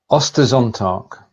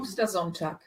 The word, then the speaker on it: Ostersonntag: Ostersonntag. Oster. I missed the umlaut. Oster. There's no Oster. There's no umlaut. Ostersonntag. Ostersonntag. It's a bit more of a longer O rather than a short O, so it's Oster.